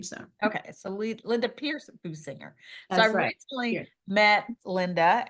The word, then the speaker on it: Boosinger: moments and so my guest today is Linda boinger did I pronounce that right boinger it sounds okay boo singer so it's not really my name it's my husband's name so okay so Linda Pierce boo singer so I recently met Linda at a networking